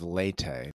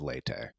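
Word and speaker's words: Leyte: e y t and I'm probably butchering the pronunciation but it does seem to be how it's pronounced by uh people on this side of the world the Battle of leate largest naval battle in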